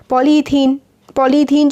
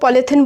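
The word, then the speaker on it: polythene: और जो हम लोग पॉलीथिन बोलते हैं ना जिसे, वो एक्चुअली उसका जो प्रोनाउंसिएशन होता है वो पॉलीथीन होता है ना, क्योंकि पॉली प्लस इथीन से वो बनते हैं जो डेली यूज़ करते हैं हम लोग।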